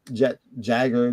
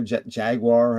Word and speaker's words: Jet Jaguar: right there you go um this is uh jet jagger jet jaguar if you want to pronounce it um and actually it appears and